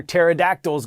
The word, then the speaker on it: pterodactyls: Why can't you hear pterodactyls go to the bathroom? Because the P is silent. All right, congrats to our first hashtag Your Word Wednesday winners of the year, Mrs.